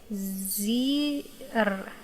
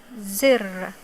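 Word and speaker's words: زر: It has kasra below, so we will pronounce it with e sound.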